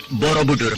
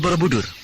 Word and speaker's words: Borobudur: Ucapan Kamulan Bumi Sambara Budara oleh penduduk di sekitar sini diucapkan sebagai Kamulan Bumi Samborobudoro. Lalu untuk singkatnya, hanya disebut Borobudoro. Lama-kelamaan, jadi Borobudur. Lalu siapa yang membuat candi yang besarnya kelewatan seperti itu?